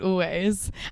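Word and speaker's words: Alvvays: Yeah, and it's spelled ALVV. AYS. That's it. Instead of W.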